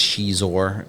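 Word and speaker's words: Xizor: Prince Shizor, spelled with an X, is the leader of Black Sun.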